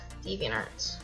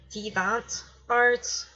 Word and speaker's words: DeviantArt: So yeah, we'll start off with DeviantArt. So give me just a minute. Boop, boop. Alright. So DeviantArt. Some people pronounce it differently, but that's how I pronounce it.